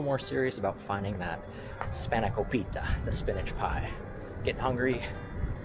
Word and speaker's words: Spanakopita: He understood me, so Spanakopita. Perfect and tested pronunciation.